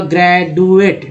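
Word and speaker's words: graduate: पहले ड पढ़ेंगे तो उच्चारण होगा ग्रेजुएट, डी का उच्चारण ड हो गया ग्रेजुएट।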